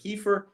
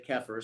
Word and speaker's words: kefir: for me um but in the midwest and in canada they say keffer so go figure so